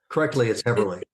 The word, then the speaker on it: Haberli: So yeah, some people know me as Haberli, some people know me as Haberli, but it's Haberli.